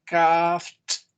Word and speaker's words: calfed: And the past tense is calfed. ¿Ya? Porque no tiene vibración, entonces tiene que pronunciarse como T, porque tampoco tiene vibración la T. O sea, las dos son iguales. Calfed.